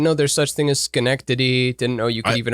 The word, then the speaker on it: Schenectady: to plug the mopco m-o-p-c-o improv theater in schenectady new york what and it's connected yeah cool have you ever banned never heard of it didn't know there's such thing as schenectady didn't know you could even arrange letters in